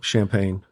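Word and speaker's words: Champaign: Illinois yeah okay yeah champagne ah beautiful Champagne Illinois Beau Champagne by the way that's not spelled like the drink thank you uh okay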